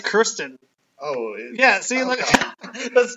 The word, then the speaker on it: Kirsten: So you pronounced it wrong. You said Kristen, right? Oh. I think it's Kirsten.